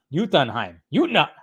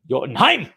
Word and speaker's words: Jotunheim: It's pronounced Jotunheim. See, I gotta listen to the teacher. I gotta listen to my teacher. Okay, guys. Jotunheim.